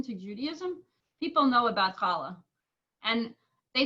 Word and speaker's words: challah: at least new york some people might can pronounce it holly bread is that a challah they said holly so more like holly but um is there